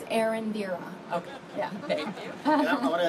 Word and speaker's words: Erendira: pronounce your first name well it's pronounced and indeed on but the best way to say is Erendira thank you I want